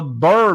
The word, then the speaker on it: BRRRR: this strategy called the Burr method that's the only way I know how to pronounce it because you spell it b-r-r-r-r-r method and that's about acquiring